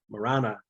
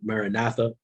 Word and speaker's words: maranatha: We tend to pronounce that word Maranatha. It's Maranatha, but that's neither here nor there.